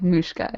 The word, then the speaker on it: Mushka: last name pronounced mushka it's like mushka like Muska like a mow like mushka yeah like a moo CA okay yeah also we